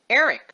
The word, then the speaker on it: Erech: Now, the encyclopedia tells us that Ur is pronounced differently in Hebrew. It's pronounced E-R-E-C-H, Erech.